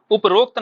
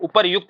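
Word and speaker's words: उपर्युक्त: को शुद्ध बदलना है उपरोक्त नहीं होता है अक्सर आप लिखने हैं उपरोक्त कथन उपरोक्त है ना उपरोक्त कथन में कहा गया है ऐसा कुछ लिखने हो ना तुम आगे से लिखना है आगे से क्या लिखना है इसको ऊपर युक्त लिखना है सही शब्द क्या है इसका ऊपर युक्त है ध्यान रखना है आगे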